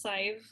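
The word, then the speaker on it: Sadhbh: It's pronounced Sive, rhymes with five.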